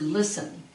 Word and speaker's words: listen: You have the word listen. Okay, the emphasis is on the first one.